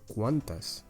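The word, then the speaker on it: quantes: in that group so in Catalan you don't say quant you say once or cuantas you transform transform it into plural and you have to also change it depending on the gender so for example in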